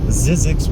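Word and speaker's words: Zzyzx: its name there really not anything out there zizzi Road it's spelled I believe z z as in zebra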